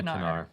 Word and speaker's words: Knarr: is called canar canar I believe you pronounced the K I think it's officially canar okay would say this